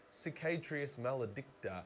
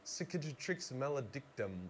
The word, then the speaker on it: Cicatrix Maledictum: Everything sucks, and everyone is screwed, thanks to a cheeky little thing called the Cicatrix Maledicta. Cicatrix Maledictum.